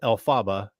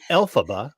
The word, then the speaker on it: Elphaba: give you that so Elphaba which sounds like you know letters in a row yes alphabet you know yep and